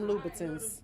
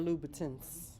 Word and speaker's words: Louboutin: Felt like them damn Louboutins. Yeah, I'm about to say. That's why you can't give me a pair of Louboutins. Right. That's how you say it, eh? Louboutin, Louboutin, Louboutin, Louboutins.